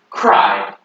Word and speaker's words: cry: So this IED sound at the end of a word is I. Good. So this word, cry. Very good.